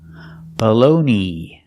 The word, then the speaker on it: baloney: and go together below baloney the last vowel is a long e like green beans e together balone balone and there are